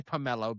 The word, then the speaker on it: Pummelo: I'm going to say Pomelo because that makes sense. And that's how we have learned it's pronounced.